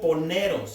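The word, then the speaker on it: πονηρός: maligno esa palabra maligno ahí viene del griego poneros así como suena d dice que han vencido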